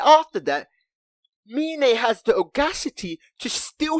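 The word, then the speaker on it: Myne: I call her Mine.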